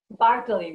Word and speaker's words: Bartoli: Bartoli. I got it? Bartoli, but that's Bartoli.